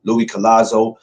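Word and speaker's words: Luis Collazo: Kasu Lou Kaz oh man I can never pronounce Louis nameo. Louis Collazo.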